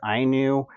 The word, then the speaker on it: INIU: I mispronounced it before, but it is pronounced INIU Power Bank.